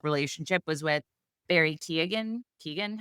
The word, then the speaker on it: Keoghan: Keegan, how do you say his name? Keegan.